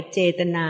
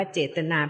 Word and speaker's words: เจตนา: จริง ๆ แล้ว เนี่ย ภาษา บาลี ใช่ คำ ว่า เจตนา เขียน เหมือน กัน แต่ ว่า ภาษา บาลี ไม่ ได้ อ่าน ว่า เจตนา เพราะ ว่า ไม่ ใช้